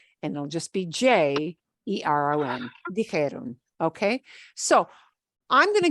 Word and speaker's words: dijeron: And then this really oddball thing, it won't be dijeron, because that's just too hard to pronounce. It'll be dijeron. It's even going to drop the IERON and just go to ERON.